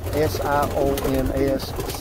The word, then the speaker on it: Sions: Again, these birds are pronounced Sion, S-I-O-N-S, Sions, like a C, that have Sions of this quality.